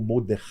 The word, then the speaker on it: Mordecai: primo, o açoeiro, desculpe, o Mordecai ou Mordei, né, como se fala em hebraico.